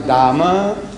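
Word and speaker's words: Dames: to the toilet and it's written there Dama, D-A-M-E, Dame. They pronounce Dama and H-E-R-E.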